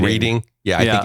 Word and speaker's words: Reading: I think I have that right too, Reading, Pennsylvania, even though it reads as Reading. Reading?